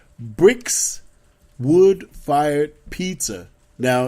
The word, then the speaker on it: Brixx: The other place you can go to is called Bricks Wood-Fired Pizza. Now, it's a play on words. I know I said the word bricks, but it's spelled BRIXX.